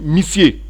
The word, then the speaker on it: missier: Donc ils ont gardé le mot monsieur, mais qu'ils prononcent missier.